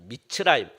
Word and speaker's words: 미스라임: 그리고 미스라임 애굽을 말하거든요 미스라임 그 히브리어로 말하면은 미츠라임이라고 그럽니다 미츠라임 그리고 영어 발르 이은